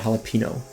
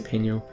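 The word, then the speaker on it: jalapeño: So like my whole life I call it jalapeno. Like I can jalapeno peppers. And then at some point in adulthood, I don't know, internalized that it's supposed to be jalapeno. So now I say peño, which probably is still like really bad butchering of the Spanish word.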